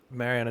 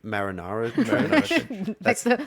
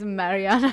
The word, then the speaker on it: Mariana: Mariana Trench. Yes, Alric gets it. I always forget how to pronounce it. I always say marinara. like the pasta sauce.